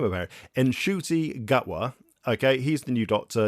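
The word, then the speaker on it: Ncuti Gatwa: He didn't know how to pronounce his own name, apparently. Nshuti Gatwa.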